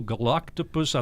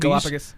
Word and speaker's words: Galapagos: the lady came by and she brought 2 galactopus. I think I'm saying it right. Turtles that were babies. Galapagos.